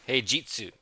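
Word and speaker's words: 平日: Heyu Hey Jitsu with a J. Okay. So I barely failed that. But yes. So we're going to say that one again. I got it the rest of it right just but this one pronunciation here. That's these little claw marks on the top. That's that makes it a G, not a she sound.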